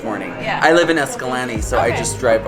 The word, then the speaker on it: Escalante: Just got gas in Escalante.